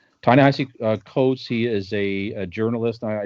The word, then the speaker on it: Ta-Nehisi Coates: I did write down the pronunciation. Ta-Nehisi Coates.